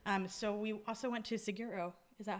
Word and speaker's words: Saguaro: So we also went to Seguro. Is that how you say it? Seguro? Saguaro.